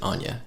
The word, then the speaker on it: onya: it's just two words so Anya is like a kiwi word it's just o-n-y-a and you pronounce it Anya yeah good on you